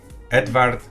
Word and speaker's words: Edvard: Edvard.